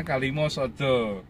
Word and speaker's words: Kalimasada: Masbro Pipit luar biasa Kalimosodo tulisannya Kalimasada bacanya Kalimosodo Kalimosodo ini punya Masbro